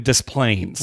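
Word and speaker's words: Des Plaines: to pronounce Plains yeah you pronounce the S even though you don't pronounce pronounce the s in Illinois you do in dis planes wa they are really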